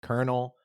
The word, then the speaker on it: colonel: Colonel pronounced colonel.